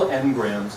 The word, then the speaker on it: Ngrams: So Google Ngrams, that's how you pronounce it.